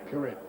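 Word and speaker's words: Kuret: I don't know how to pronounce it. K-U-R-E-T. We asked him pre-match. And what is it? No, correct. Correct. Correct. It rhymes with Eric.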